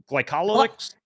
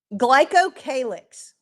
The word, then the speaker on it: glycocalyx: Um and forgive me if I'm a pronouncing this wrong, glycol glycolyx? Glycocalyx.